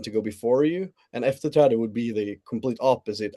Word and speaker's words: efterträde: And can you please tell me how to pronounce it in Swedish, please? The title. We'll try our hand at it. It's efterträde. Efferetrada.